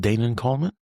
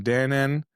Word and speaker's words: Danan: Is it not Dan Coleman? You got it. We are friends. Okay, good. Is there a different way to pronounce it? There's lots of ways depending on where you are are in the world. I'm Dan. Israelis call me Dan.